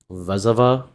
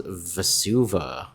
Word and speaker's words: Vesuva: Vesuva? How do you pronounce this card? I'm pretty sure it's Vesuva. Alright, Cody going to untap.